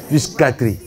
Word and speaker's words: psychiatrie: Psychiatrie. On ne prononce pas le P, papa.